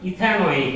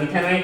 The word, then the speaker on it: ইথানোইক: হচ্ছে Ethan Ethan থেকে এটার নাম উচ্চারণ করতে হবে নোইক এসিড তাহলে এটাকে বলতে হবে ইথানোইক এসিড ইথান নোক এসিড এটার নাম ইথানোইক এসিড এন এর মান এরকম